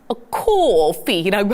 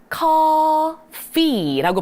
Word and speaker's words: coffee: 우리가 이게 O가 들어간다고 해서 coffee라고 하면 좀 어색하게 들리잖아요. 어떻게 발음합니까? coffee라고 발음을 해줘서 한 번 더요. 우리 F 발음 살려주시는 거예요.